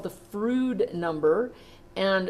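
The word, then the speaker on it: Froude: number is called the frood number and frood number its rhymes with food it talks about the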